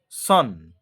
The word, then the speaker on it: son: এটাকে সন উচ্চারণ করে দিচ্ছে। এটার অ্যাকচুয়ালি উচ্চারণ হচ্ছে SON, আর প্রোনাউন্সিয়েশন, কারেক্ট প্রোনাউন্সিয়েশন হচ্ছে, উচ্চারণটা হচ্ছে সান।